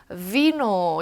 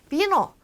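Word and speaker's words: vino: 배웠다고 이제 비노라고 읽는데 요거를 영어 사운드처럼 해서 비노 이렇게 하면 어떻게 된다? 틀렸다라는 거죠. 어떻게 해요? 비노, 베베, 부에노 라고 영어 B 소리 내듯이 읽어주시면 됩니다.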